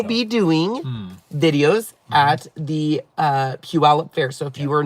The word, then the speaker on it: Puyallup: so here's the deal it's actually called Puyallup Ella but I always misspell it until Sean one day was like it's like Paul yup pull yep oh yeah so now